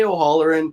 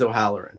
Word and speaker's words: O'Halloran: pronounce my last name I say o'herin everyone else says o'herin so I'm I'm really don't